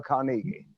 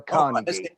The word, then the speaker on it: Carnegie: We do, but we don't pronounce it that way, though, Will. Dale Carnegie. Let's go to Julie. How do you say it, Julie? Yeah. How do you say it? It's Dale Carnegie.